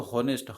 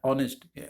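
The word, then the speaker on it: honest: फिर इसके बाद देखिए अगला दिया हुआ है हॉनेस्ट, दिया आपका, देखिए इसको हॉनेस्ट, ह नहीं पढ़ते हैं, इसको पढ़ा था ऑनेस्ट, ऑनेस्ट इसको किया था, प्रोनाउंस किया था।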